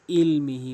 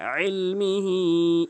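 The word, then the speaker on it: علمه: বিশাইইম মিন ইলমিহি অধিকাংশ লোক ইলমিহি বলে হামজার উচ্চারণ করে ফেলে, এখানে আইনের উচ্চারণ করতে ফলকের মাঝখান থেকে। ইলমিহি ইল্লা বিমা শা, ইল্লা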